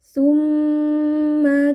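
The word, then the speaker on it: ثمّ: Tumma kalla saufa taun. Tumma ada mim tasdid. Jadi kita panjangkan sedikit bunyi dengungnya.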